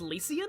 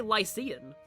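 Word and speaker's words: Lycian: Oh, it's pronounced Lucian. I always used to say Lysian.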